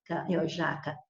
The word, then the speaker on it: jaca: Se você tem a palavra jaca, jaca é paroxítono porque o já é a sílaba mais forte, a penúltima.